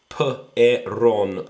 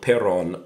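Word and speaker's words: перон: It looks like P-E or N-E-P-O-H, but it's P-E-R-O-N, peron, peron.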